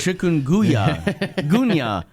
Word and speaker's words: chikungunya: Uh first of all, we're going to touch on the uh yeah, that's how you pronounce it. Chikunya ga virus which is the latest outbreak in China.